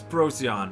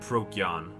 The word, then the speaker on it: Procyon: And as you heard, I pronounced the game totally wrong. It's Procyon, not Procyon.